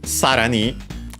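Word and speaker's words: さらに: But yeah, sarani, accented on the first syllable, means furthermore.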